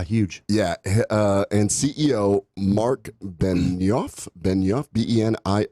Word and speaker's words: Benioff: force oh wow huge yeah and CEO Marc Benioff Benioff be en I o FF dude gotta